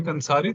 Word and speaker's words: कंसारी: अब आगे कंसारी, तो कंसारी में तो अनुस्वार है विष्णु चक्र, तो उसका तो नेजल अनुनासिक उच्चारण होगा ना, नाक से। Mhm. कंसारी, कंसारी। तो वो प्रॉपर न नहीं है, तथ दध न नहीं है, वो अनुस्वार है, तो नासिका से हम उसका उच्चारण करते हैं।